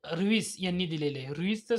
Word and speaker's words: Vries: रुईसचं spelling असं आहे, VRIES असं स्पेलिंग आहे. त्याला रुईस असं म्हटलं जातं.